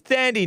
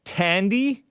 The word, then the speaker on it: Thandie: the lines so this thandi newton i think it's pronounced tandy tandy newton but actually she